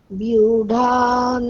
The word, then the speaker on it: व्यूढान्: হ্যাঁ, তারপরে লাইন, বিউঢাম দ্রুপদ পুত্রেণ, বিউঢ়ান দ্রুপদপুত্রেণ আবার व्यूढान् द्रुपदपुत्रेण মানে বিউঢাম, ওটা আপনি বর্গীয় ব বলে দিচ্ছেন, ওটা হচ্ছে অন্তস্থ ব, সুতরাং ওটা বিউঢাম নয়, ওটা বিউঢাম।